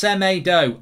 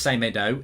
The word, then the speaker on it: Semedo: right old geezer uh it's pronounced semedo i tell you what it's not pronounced say medo it's not pronounced semadu it's not sound it's not pronounced semido it's pronounced i'm a